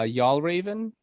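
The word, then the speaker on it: Fjällräven: Paragon, and also Y'all Raven, which is they make the bags. They're a Swedish company. They make the bags that say it's like FJAL Raven.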